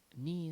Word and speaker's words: に: Ni is pronounced like the ni in needle.